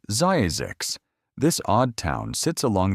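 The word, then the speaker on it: Zzyzx: Pronounced Zazix, this odd town sits along the edge of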